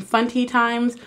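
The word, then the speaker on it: Funtie Times: And this video is coming from Funty Times. Let me know if I'm saying that right. It's spelled like auntie but fun, so I'm like Funty Times.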